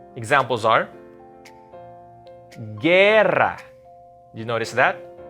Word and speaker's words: guerra: Examples are guerra. You notice that? I didn't pronounce the U. It's silent.